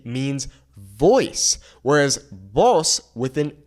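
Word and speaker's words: vos: Whereas boss with an S means you. The pronunciation is exactly the same, but we understand the difference between boss and boss based on the context of our sentence.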